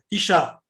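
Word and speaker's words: אשה: Par exemple, vous dites Isha. Isha. Ouais. Une femme. Est-ce que vous prononcez le He? Non. Oui. Il n'est pas d'agouche. Le He ici n'a pas de point au milieu. Il n'est pas d'agouche. Donc, vous ne prononcez pas le He.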